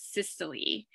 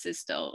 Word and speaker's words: systole: So the contraction phase we refer to as systole, and the relaxation phase is diastole, could also be pronounced systole or diastole.